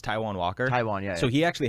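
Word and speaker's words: Taijuan Walker: consistent just got moved over to the mets taejon walker uh hey it's pronounced taiwan walker taiwan yeah so he actually had a stint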